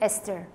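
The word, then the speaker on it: Esther: हैं तो एस्टर in English में वी प्रोनाउंस इट एस्टर क्योंकि टी एच है क्योंकि ई एस टी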